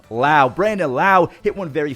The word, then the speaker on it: Lowe: is spelled, yeah, it's Lowe, but his name is Lowe.